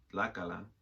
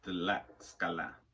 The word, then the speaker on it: Tlaxcala: social plan, claiming for the states of Guerrero, Michoacán, and Tlaxcala, Puebla, and I know I'm saying that wrong.